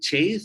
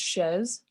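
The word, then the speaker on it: chaise: the way is it chase or uh there is another way to pronounce it it's uh it's a french word it's pronounced shez chess okay thank you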